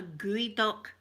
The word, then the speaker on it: geoduck: Gooey duck, but it's spelled Geo, as in geoduck, you think it would be called. It's called a geoduck, and I'll tell you, it's phallic shape.